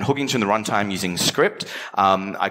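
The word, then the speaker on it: Cycript: got a ridiculous name it's not Sai crypt it's called pronounced script and the premise is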